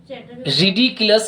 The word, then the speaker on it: ridiculous: रिडिकुलस, ridiculous is the proper pronunciation.